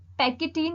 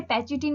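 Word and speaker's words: pachytene: चुके हैं, leptotene, zygotene, पैकिटीन या पैचिटीन इसे कहते हैं, आप कैसे भी इसको प्रोनाउंस कर सकते हो, डिप्लोटीन एंड डाइकाइनेसिस।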